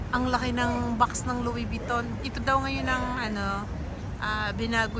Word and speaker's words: Louis Vuitton: Louis Vuitton. Louis Vuitton. Yung pala yung bigkas nila.